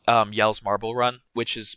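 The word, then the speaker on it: Jelle: It's not called Yell's Marble Run, which is pronounced like Gels Marble Run because it's like I think it's a Swedish Dutch, I believe.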